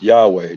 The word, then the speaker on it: Yahweh: Praises be to I'm just going to say the way it's pronounced Yahweh.